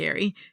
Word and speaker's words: Ari: Ary I kept saying Arya, but yeah, Ary. I don't know cuz I I I didn't listen to it, but it's Ae R I is how it's spelled.